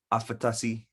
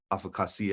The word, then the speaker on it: afakasi: And this question is, what do the words afatasi, or, afakasi as it's mostly pronounced, or afkasi mean?